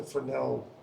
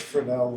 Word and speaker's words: Fresnel: And there's an S in the middle of his name, which is silent, but you'll hear a lot of us Americans say Fresnel.